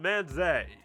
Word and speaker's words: manzai: Nah, I'm pretty sure it's pronounced manzai.